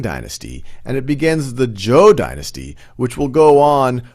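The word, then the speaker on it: Zhou: battle of muyie against king wu of zhu or joe is actually the correct pronouncer king wu of joe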